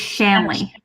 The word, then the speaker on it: Shanley: my apologies then because i've been calling it like it rhymes with stanley and i thought that